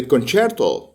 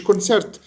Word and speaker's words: كونشيرتو: مايسترو كلمه ايطالي كلمه كونشيرتو كونشيرتو يعني حفله ميوزك دي كلمه ايطالي طبعا هي بالانجلش كونسيرت بس هي بتطق في مصر بالنطق الايطالي بتاعها لان بالانجلش بتق كونسيرت كونشيرتو اللي هي بتقال على